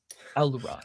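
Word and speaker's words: Aurelon: Aluran. Oh, okay. Okay. Oralon. Yeah. Yeah. Okay. Did not spell that like that.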